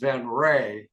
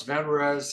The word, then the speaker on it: Venrez: can the badge is supposed to should be pronounced ven R actually but uh some people call us venes some people call us ven R and it doesn't really matter as long know